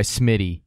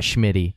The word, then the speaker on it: Smitty: His last name is Schmid, but he goes by Smitty, not Schmitty.